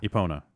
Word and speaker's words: Epona: Yeah, It's pronounced Epona.